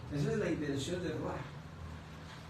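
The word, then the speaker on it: רוח: Se escribe ruach. R-U-A-C-H. R-U-A-C-H. Entonces se pronuncia ruach.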